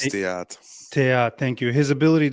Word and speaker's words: Theate: It's Theat, by the way. It's pronounced Theat.